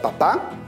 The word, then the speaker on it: papá: papá a qué grupo pertenece correcto está dentro del grupo de las palabras agudas porque la mayor fuerza de voz se encuentra en la última sílaba le pongo o no le pongo tilde le pongo tilde porque termina en vocal vamos con la siguiente